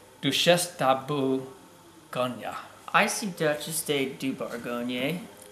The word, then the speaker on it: Duchesse de Bourgogne: I don't butcher this the proper pronunciation on this is do chef de Bologna a lot of people call it duchesse de bourgogne but douche esta boo ganya I see duchesse de